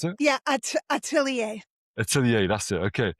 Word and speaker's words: Atelier: Oh, that's how you pronounce it? Yeah, Atelier.